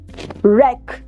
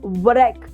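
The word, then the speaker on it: wreck: डब्लू is silent. We से wrist yes. What about this one? रेक। Racking ball. Hmm. Okay. Alright. So इट इज़ नॉट व्रेक।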